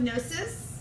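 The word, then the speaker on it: Knossos: So we have here the Palace of Gnosis. Don't pronounce the K.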